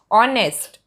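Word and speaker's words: honest: ऑनेस्ट, तो यहाँ पे ऑनेस्ट अ की साउंड आती है तो यहाँ पे एन आर्टिकल आता है।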